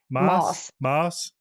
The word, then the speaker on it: Maass: Is it just pronounced Maass? Maass? Yes.